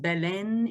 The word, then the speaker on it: Belém: the city of of Balem um pronounced Ben in Portuguese if you want to be um um totally appropriate with your pronunciations there. It sounds more like an N than an M.